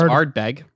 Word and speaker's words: Ardbeg: It's Ardbeg. Ardbeg. It's probably like fucking Scottish, man. Like, who the fuck knows? Yeah, there's probably a couple letters in there you don't actually A-R-D-B-E-G for those listening at home.